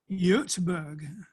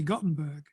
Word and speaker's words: Göteborg: A few years ago, and you'll remember this, Freya, we went to Göteborg, which we in England say Gothenburg, which is wrong, but that's how we pronounce it, in Sweden.